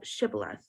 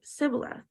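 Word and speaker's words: shibboleth: said they unto him say now shth and he said Sith for he could not frame to pronounce it right then they took him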